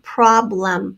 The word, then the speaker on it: problem: Problem, problem. I can hear the a short O sound in the first syllable and the second syllable becomes a schwa, problem.